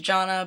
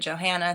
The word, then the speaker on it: Jonna: get my name wrong it's pronounced Jonna but I get Johanna things like that um so I'm so